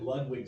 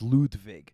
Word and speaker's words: Ludwig: so funny I mean technically the German pronunciations Ludwig but it's about as much Ludwig as it should be Ludwig right so for people who say it's Ludwig as opposed to Ludwig I mean if we're